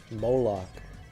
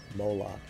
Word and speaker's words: Molech: Let me look this up how to pronounce it. Molech. Moolok. Moolok.